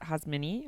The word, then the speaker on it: Xazmin: My Instagram is at Xazmini, which is Xazminnie. But my name's pronounced Xazmin.